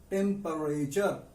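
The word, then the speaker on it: temperature: पानी कितना गर्म था, कितना ठंडा था, इसके लिए एक स्पेशल वर्ड है, that is टेम्परेचर। टेम्परेचर, टी का प्रोनाउंसिएशन यहां पर टी का है CH। तो टेम्परेचर, हीट कितनी है, द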